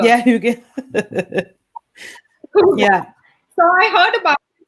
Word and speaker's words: hygge: And, this concept of, how do you pronounce it? Hygge. Yeah, Hygge.